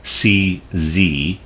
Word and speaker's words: Czernin: So Czernin, and his name is spelled C-Z-E-R-N-I-N, Czernin.